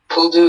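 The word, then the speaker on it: pull-doo: Yeah, Puldu is the only pronunciation.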